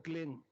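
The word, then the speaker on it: क्लीं: बिंदी इसकी ध्वनि निकलेगी ग से क्लिंग क्लिम में नहीं संस्कृत में क् होता नहीं क्लिंग अंग का उच्चारण होना पड़ेगा एक क्लिंग को जपने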